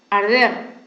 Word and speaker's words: arder: Ahora, a ver, una más, por ejemplo, arder, comienza con A, pero no es tónica en la A, es tónica en la E, ¿no? Arder, en la sílaba der, ¿ya?